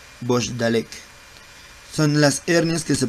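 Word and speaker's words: Bochdalek: La más común se le conoce como hernia de Bogdalek. Voy a llamar lista. Prendan sus micrófonos para no. Muchos lo pronuncian como Bogdalek. Muy bien, Bogdalek.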